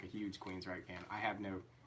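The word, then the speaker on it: Queensrÿche: is Queens Reich so how do you say that yeah Queens right like the band never heard oh yeah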